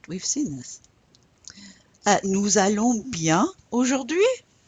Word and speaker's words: nous allons: Okay, first thing I'll point out is the nous allons. Remember the Z sound whenever the S is followed by a vowel.